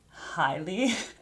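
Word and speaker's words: jai alai: that jai is pronounced highly I had no idea but look I know that from a cross word clue I didn't know that it was a sport and it was pronounced in Spanish, which makes a lot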